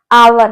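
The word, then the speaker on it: hour: है जैसे आवर है तो यहां पर हमारा यह एच क्या है देखने में तो यह एच है पर इसका प्रोनंसिएशन जब हम करते हैं तो एच साइलेंट हो जाता है और पावर रह जाता है इसी तरीके से ऑनेस्ट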